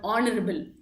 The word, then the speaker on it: honorable: அந்த மாதிரி சில detailings pertaining to, for example, if you take the word honorable அப்படிங்கிற வேர்ட் வந்து honorable நம்ம எல்லாருமே வாசிப்போம். பட் ஆனால் அது வந்து ப்ரொனவுன்ஸ் பண்ணல we say an honorable chief minister அப்படிதான் சொல்லுவோம்.